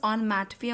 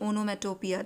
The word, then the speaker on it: onomatopoeia: Students, the correct pronunciation is onomatopoeia only. Don't pronounce it onomatopoeia.